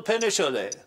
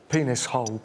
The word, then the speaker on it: Penicholi: is your name Penicholi? Well, it's pronounced penis hole, but yes.